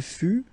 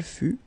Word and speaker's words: fut: Il fut, final T not pronounced.